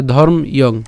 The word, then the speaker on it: ধর্ম্যং: তাহলে উচ্চারণটা কেমন হবে, ইয়ং, ঠিক আছে, ইয়ং। তাহলে ধর্ম ইয়ং, ধর্ম ইয়ং।